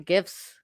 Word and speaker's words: GIF: Graphics is a hard G, my friends. So, I don't really care if it's an acronym and it's a hard G in the acronym. It's a GIF.